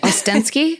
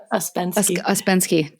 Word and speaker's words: Ouspensky: Ostensky. Is that how you say his name? Ouspensky.